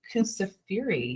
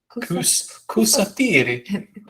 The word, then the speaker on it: Kusafiri: I mean, there's also a coffee shop, Kusafiri. Yes, What? that's how you say it. I'm learning. Show me again. That's a U. Yeah. Kusafiri.